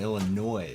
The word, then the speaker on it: Illinois: I know you're from Illinois. I was born in. Yes, thank you for pronouncing it Yeah, I correctly.